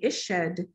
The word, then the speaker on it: ished: So with the pronunciation in Egyptology, we just kind of put a little E, like we'll write it out, transcribe it with an E between consonants, just to give us some way to pronounce things.